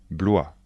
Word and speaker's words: Blois: chenonau et le château d'Amboise attention de bien prononcer les noms de Château répétez après moi chambor le château de chambor Blois le château de Blois Chenonceau le château de